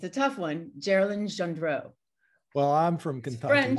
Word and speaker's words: Geralyn Gendreau: But the way to remember it is it rhymes with Marilyn Monroe.